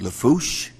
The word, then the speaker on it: Lafourche: parish president and of course uh for uh pronounced Lafourche thank you very much I worked on that